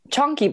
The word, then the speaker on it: chonky: sorry say that again chonky boys chony boys two words chonky c h o n k y and then boys could be spelled like